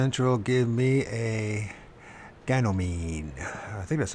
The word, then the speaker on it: Ganymede: Supernatural, give me a Ganymede. I think that's how you pronounce it. Was it Ganymede. Ganymede? So it's like a reed, mead. Ganymede. Ganymede.